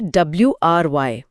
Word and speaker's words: wry: ये है WRY। ध्यान दीजिएगा, स्पेलिंग है WRY।